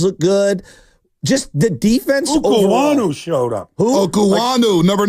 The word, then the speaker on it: Okuayinonu: I didn't know how to pronounce the name for a long time. I've been practicing, though. Samuel I want to Okuayinonu.